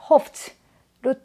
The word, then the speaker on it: hoped: hoped로 트 발음 소리를 내주셔야 합니다.